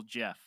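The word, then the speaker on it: Gef: I think it's yeah, they spell it with a G, but the pronunciation is just normal Jeff.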